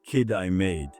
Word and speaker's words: Kitimat: At the other end, in Kitimat, it's pronounced kid I made.